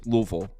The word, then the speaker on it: Louisville: mind I guarantee you ask somebody from Kentucky they'll say it's Louisville that's how they say it all right talk about